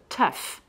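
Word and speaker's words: tough: d'autres mots comme ça où le GH se prononce F hein alors je vais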